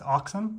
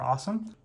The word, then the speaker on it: Alxum: this charger here uh it's actually the company's alxum it's actually pronounced axom or awesome this is their one 100 watt Gan power